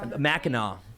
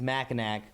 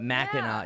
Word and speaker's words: Mackinac: Mackinaw, by the way, yeah, that's one of the biggest things. It, it phonetically reads Mackinac, but Mackinaw, yeah, it's the Mackinaw Bridge.